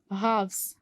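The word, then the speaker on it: halves: हाफ्स. हाफ्स में हम एल को प्रोनाउंस नहीं करते.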